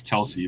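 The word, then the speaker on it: Kelce: I know it's Kelsey, but according to Acer, we're not allowed to pronounce his full name correctly.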